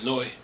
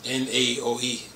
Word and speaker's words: Naoe: gear is equipped on Noi. That's Naoe. I think the A is silent.